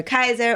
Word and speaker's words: Kysre: Why do you prefer Kai over Kysre, over Kysre, Gondrezick? You pronounced it right.